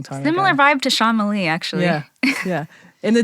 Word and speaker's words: Shyama: Public Service yeah uh it's shama and I'm I used to tell people that it rhymes with llama now I tell people that would mess people some say shalama they would still mess it up so now I say think of ight Shyamalan because it's spelled exactly like the director's name no relation but yeah it's it's uh pronounced the exact way and spelled the same way so that helps people so